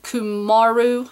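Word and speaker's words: cumaru: and see the next hook is kymaro ku ku Maru is how it's said and this is a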